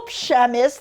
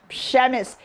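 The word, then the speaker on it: Przemyśl: Okay, so it's in Little Przemysl. That's how you say it. Look at it, the spelling of that. Przemysl.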